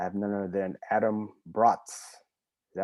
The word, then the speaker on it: Braatz: I have none other than Adam Braatz. Is that right, Adam? Yeah, you got it right. Well Awesome. done. Pronounced just like the food.